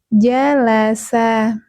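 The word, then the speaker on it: جلس: Jalasa disempurnakan dulu pengucapan dari huruf ke hurufnya. Jadi bukan dipanjang-panjangkan ya teman-teman, bukan ja laasa.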